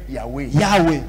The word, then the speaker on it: Yahweh: Toi, tu dois dire Yahweh. Yahweh. On a traduit éternel. Parce que ce nom-là, ça s'écrit Y-H. W-H. C'est comme ça que Moïse avait écrit.